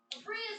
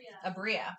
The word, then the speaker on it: Abria: Bria's amazing! Was I saying that wrong? I've only ever read her name. Oh yeah, it's Okay. Abria. Cool. I've been putting the emphasis on the wrong syllable.